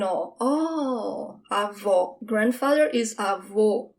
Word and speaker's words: avô: Grandfather is avô. It's closed. Avô. It's almost like you're saying, oh, avô.